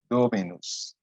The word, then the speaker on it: dominus: case so we have dominus remember for there has to be as many syllables as there are vowels so we have three vowels the o the i and the u so it's domenus that means the lord